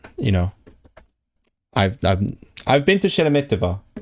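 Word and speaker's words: Шереметьево: But you know, I've been to Sheremetyevo. Sheremetyevo, right? That's basically it. Am I pronouncing it right? Let's see. Do I have pronunciation? Sheremetyevo, yeah.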